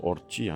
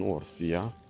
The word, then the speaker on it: Orcia: Val d'Orcia, ça se prononce Orcia, pas Orsia, nous ont dit les Italiens.